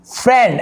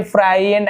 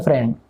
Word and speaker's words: friend: Search मारे आपकी FRIEND, फ्रेंड ऐसे होता है। जी अब पढ़ने में आपको नहीं लग रहा हो ये फ्राई एंड अजीब, लेकिन यही सही है फ्रेंड, ये आपका गलत है।